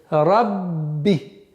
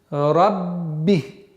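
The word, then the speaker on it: رَبِّ: Для произношения, для использования в арабском языке сперва нужно удвоить звук, а потом используется огласовка. То есть рабби, рабби.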